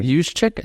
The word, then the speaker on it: Juszczyk: Juszczyk, is that how you say his name?